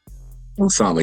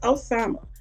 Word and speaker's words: Osama: Osama, yes, ma'am. Osama.